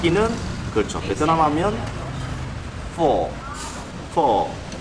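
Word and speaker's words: phở bò: 베트남 하면 퍼보 F 발음 정확하게 그랬거든 선생님이.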